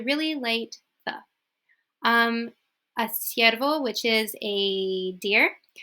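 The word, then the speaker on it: ciervo: which is a deer siervo okay okay the key to this is if you are doing the the don't overdo it or else it sounds like really fake it's it's light okay it's not like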